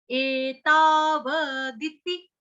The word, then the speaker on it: एतावदिति: एताव, एताव दिति, दिति, दिति, द ई छोटी की मात्रा, त ई छोटी की